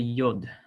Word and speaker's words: yod: just us first off now we have the yod the yo that is pronounced like a y sound um it is sometimes